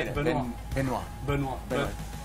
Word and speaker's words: Benoit: Benoit.